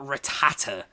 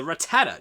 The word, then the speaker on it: Rattata: the warning I'm not accepting him is not ratata it's Ratatat that's a Rattata no there is Dre there is only one